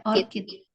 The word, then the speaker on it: orchid: Ya, orchid. Tahu nggak tulisannya? ORCID. Bukan. Ya, bacanya orchid ya.